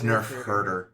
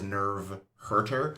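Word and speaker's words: nerf herder: it was nerve hter no it's Nerf herter a Nerf is some sort of like cataly creature and they heard them is that like a redcon no that is actually what Carrie Fisher pronounced the word nerve wrong and no no it was supposed it was written as Nerf like you I for years thought it was nerve hurter yeah but really yeah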